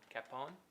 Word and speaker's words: Capon: Robert Capon. Capon.